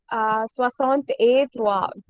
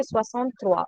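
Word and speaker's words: soixante-trois: hear Swasant A Trois. Don't pronounce A. Okay. Swasant Trois.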